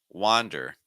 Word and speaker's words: wander: more frequent and then the second word is going to be wander wander with an a sound W wander so again Wonder wander this can also be